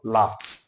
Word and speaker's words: laughed: be pronounced as s a good example we have laugh not LED what we have is what laughed not LED it is what l